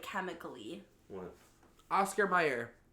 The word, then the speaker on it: Mayer: So, for those of you confused as to why we're angry and confused, it says Oscar Mayer is spelled with an A and not an E. So it's Mayer.